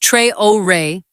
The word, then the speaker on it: Traoré: Ibrahim Traoré, pronounced Tray-Oh-Ray, is 36 years old.